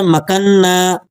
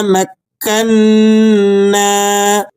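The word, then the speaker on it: مكّنّا: کے ساتھ پڑھ دینا۔ اب دیکھیں یہاں پر بھی بعض ساتھی اسے پڑھتے ہیں مکنہ، اس طرح سے پڑھنا درست نہیں ہے۔ اسے بھی آپ گرامر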